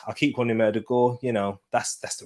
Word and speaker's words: Ødegaard: be able to sign players like martin erdogan erdogard i'll keep quanti murder gore you know that's that's the real pronunciation but we're not going to be able